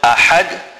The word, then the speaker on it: أحد: And then in the word ahad, the ha is a big ha which must be pronounced from the center of the throat.